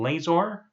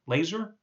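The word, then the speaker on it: Lazor: rid of bill um I think he pronounced his name laser laser l a z r uh and they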